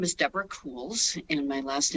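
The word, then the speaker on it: Kuhls: the privilege of testifying my name is Deborah cools and my last name is spelled k-u-h-l-s um I'm a trauma surgeon I've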